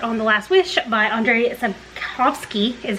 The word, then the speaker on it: Andrzej Sapkowski: And then also I decided to go ahead and get a start on The Last Wish by Andrzej Sapkowski, is how I learned it's pronounced.